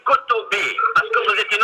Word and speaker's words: Kotbi: Et d'ailleurs, quand on dit Mehdi Kotbi, il faut prononcer Mehdi Kotoubi.